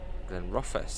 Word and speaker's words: Glenrothes: Glenrothes.